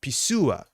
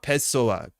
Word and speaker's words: Pessoa: Pisua, not Pessoa.